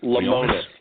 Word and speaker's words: Lemonis: The prophet, Marcus Lemonis.